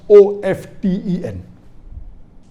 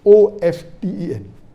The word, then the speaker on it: often: Some will say often, some will say often. Previously it was often, then it became often. Now new people are saying no, often is correct. T is not silent, it should be pronounced. Some say T is silent, and then there's a big debate for that. But we realize that both are correct in their own ways.